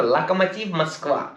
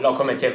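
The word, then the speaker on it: Lokomotiv: like he's going to lack a motive yes that's how you pronounce it properly not locomotive moscow it's like a motif musk and it looks like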